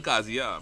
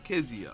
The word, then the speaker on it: Kezia: I just call her Kazia, but you know, Kezia. Yeah, it's a Trinity thing. Everybody else says Kazia. I just don't understand how it computes.